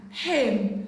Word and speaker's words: hymn: Letter N is silent in the word autumn, column, condemn, dam, hymn, solemn, male guy, not Gavi, male guy.